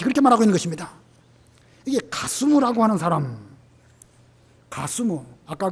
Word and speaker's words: 가스무: 게셈이라는 말은 히브리 발음으로 게셈이고 이 산발랏의 편지에는 히브리 발음으로 기록한 것이 아니라 그들 발음으로 가스무, 게셈, 가스무 좀 비슷하죠? 이 게셈이라는 사람의 발음이 그들 발음으로 가스무입니다.